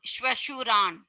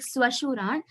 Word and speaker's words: Shwashuran: Are you saying it as Swashuran or Shwashuran? Shwashuran. Then it is correct. I heard it like Swashuran.